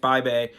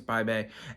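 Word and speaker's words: Bibee: were facing off against bay bay and I think that's what I say his name and it's bye baby because it looks like BB but I think it's by Bay and good consistently good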